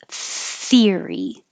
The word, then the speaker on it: theory: Voiceless TH. The same voiceless theory. Theory. So theory. Make sure you pull your tongue down enough so that it doesn't touch the top of your mouth.